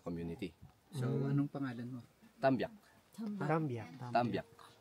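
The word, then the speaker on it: Tambiac: Tambyak. Tambyak. Spell it. T-A-M-B-I-A-C. Tambyak.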